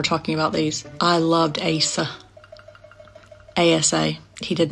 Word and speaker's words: Acer: But because you guys over here don't pronounce the R, that would be pronounced Asa, even though it's Acer.